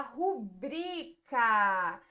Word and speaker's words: rubrica: verdade essa palavrinha aqui é uma paroxítono a gente fala rubrica beleza muito bem aqui